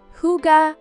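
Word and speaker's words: hygge: a deep appreciation for Hai pronounced Huga a concept that embodies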